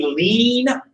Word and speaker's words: lien: Essentially, they put a lien on their crop. I know it's spelled weird, but that's how they spell it.